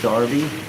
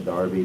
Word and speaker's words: Derby: Derby is Derby. Derby. You say Darby. Did I say it wrong?